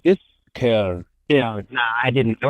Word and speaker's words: Köln: Is it pronounced Schoen? Something like this? Köln.